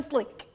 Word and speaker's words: SLK: I call him Slick. Because, you know, you have to pronounce the S and the L. No, the K is silent, actually. It's Slick.